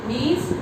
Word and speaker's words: gneiss: The spelling is GNEISS, but the G is silent. It is pronounced as gneiss, and gneiss is made from which rock?